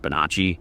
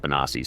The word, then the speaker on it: Bonacci: And before you even say it, I know technically that should be pronounced Bonacci, but Paul pronounces it Bonacci, so that's how I'm going to say it. Whatever, it's his name.